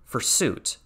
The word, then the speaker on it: fursuit: Notice the pronunciation, fursuit. It's a pun on pursuit, like you're seeking out something because you're seeking out information on fur things.